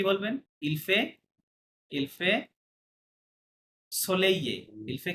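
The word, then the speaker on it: soleil: ইলফে ইলফে সোলেইয়ে। ইলফে কি বলবেন? সোলেইয়ে, ইলফে সোলেইয়ে রাইট। ইলফে সোলেইয়ে, হ্যাঁ? অথবা ইলফে অন সোলেইয়ে বললেও হবে, সমস্যা নাই। আহ, ইলফে সোলেইয়ে মানে আজকে ইটস সানি, হ্যাঁ?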